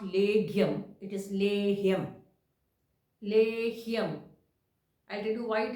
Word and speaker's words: Lehyam: the reasons SRA so coming back to this point of leim everybody is pronouncing it as leum it is not leum and this is a